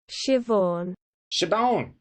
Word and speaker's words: Siobhan: i guess i'm curious to see how it's pronounced let's see here where's the play button oh here it is shivon sounds good never heard i've never even heard